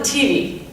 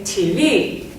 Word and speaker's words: TV: He says, turn on the TV. I don't know about you, but I say TV. So I put emphasis in a different place than he does, and it makes a difference.